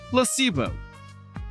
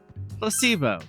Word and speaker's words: placebo: to our vocabulary today repeat after me Placebo the stresses on the middle Sy Placebo Splendid it's so Charming